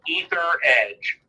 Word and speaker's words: Etheredge: is as rich and it's spelled e th ER e mg e sub ether edge and my seven card